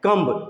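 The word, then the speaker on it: comb: formula बता दिया की जब भी बी हो और बी से पहले एम हो तो बी को प्रोनाउंस नहीं करते हैं साउंड उसका नहीं निकलेंगे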